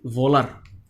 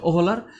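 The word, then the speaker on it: Wöhler: আর বিজ্ঞানীর নাম হচ্ছে বার্জে না, এটা হচ্ছে ফ্রেডরিক ভোলার। আসলে উচ্চারণ হচ্ছে ওহলার, কিন্তু এটা বলে দেই,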